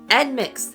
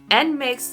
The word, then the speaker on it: NMIXX: NMIXX. NMIXX, new girl group from JYP, or they were known as JYPN.